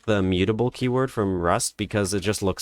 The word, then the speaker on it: mutable: I don't really like the mutable keyword from Rust because it just looks like it's pronounced as mutt, and I don't like that